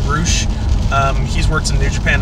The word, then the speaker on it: Rush: You got it's spelled Rush, but I think pronounced Roosh.